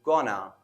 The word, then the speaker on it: going to: Going to is reduced to gonna.